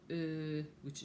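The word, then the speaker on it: euh: You don't say in French, you say which is spelled E-U-H.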